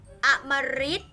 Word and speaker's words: อมฤต: ออก เป็น เสียง หรือ อมฤต อมฤต อัน นี้ ออก เป็น เสียง ริ นะ คะ กฤษณา กฤษณา